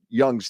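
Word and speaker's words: Jung: There's a video of this guy um shoot my Carl Young. Oh yeah. Have you seen the video? J u n it's pronounced young but it looks like John.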